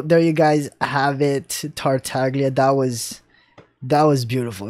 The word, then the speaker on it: Tartaglia: be had so there you guys have it tart taglia that was that was beautiful i'm like he's